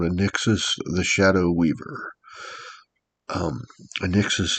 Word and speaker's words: Anixus: It's a n x a n i x a s. a n i Anixus. It's how I pronounce it.